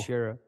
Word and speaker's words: Shearer: And it's Alan Shaw. Shearer. Yeah, Alan Shaw. How you say his name? Hey, what? Alan Shearer, dog.